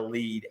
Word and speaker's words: Lede: And I do write a weekly column in the Birmingham Lead, and Lead is spelled LEDE.